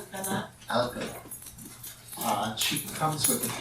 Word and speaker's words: Alcalá: And how do you pronounce the last name? I've known you for years and I never get it wrong. Alcalá.